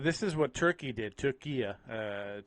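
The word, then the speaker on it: Türkiye: But this is what Turkey did, Turkey, to say it correctly. Turkey, I was fully aware of this.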